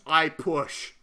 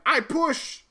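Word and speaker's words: Ah Puch: If you pronounce it properly, it almost sounds like his name is just I Push.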